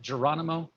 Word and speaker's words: Geronimo: pictures laying around uh uh there uh geronimo i'm gonna get them from you here am i saying that right by the way is it geronimo you're right you know that's correct oh yeah